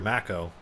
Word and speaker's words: Mako: it makos okay see i was thinking of the actor mako whose name was spelled like that no but but he pronounced it mako yeah yeah he pronounced